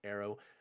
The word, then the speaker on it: aero: is a combination of arrow and pterodactyl and arrow is in um the greek for air a e r o arrow oh all right i